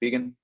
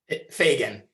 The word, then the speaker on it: Feagin: If and I'm pronouncing that correctly, correct? Fegan. Fegan. Fegan. All right, Fegan.